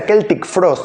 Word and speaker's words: Celtic Frost: En esta que tengo sí, que son Procreation of the Week, de los míticos Celtic Frost, que se pronuncia Celtic Frost, me enteré hace poco, la leyenda suiza